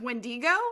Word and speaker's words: wendigo: because like uh the wendigo um yeah that's pronounced wendigo actually and it hurt me boom trust me